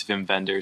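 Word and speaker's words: Wim Wenders: from 1984 directed by jim venders i i hope i'm saying that right i looked up a pronunciation i said it was vim vender so he's like what german i think yeah means german who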